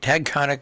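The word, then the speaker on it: Taconic: And, of course, this past weekend, the Tagconic, got to say it right, Tagconic Grange, they were back with their big plant and drummage sale.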